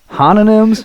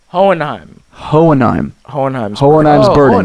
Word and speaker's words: Hohenheim: what the albums i that's the hononyms that's the that is the best that's the best wrong pronunciation i've heard thus far nah hohenheim you dropped nine of them you're german dude you should know this you must [ __